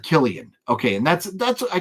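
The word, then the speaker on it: Cillian: I I love it pronounced like Killian okay and that's that's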